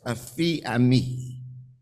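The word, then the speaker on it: aphiemi: It's A-P-H-I-E-M-I, and it is said to be pronounced as aphiami, something to learn.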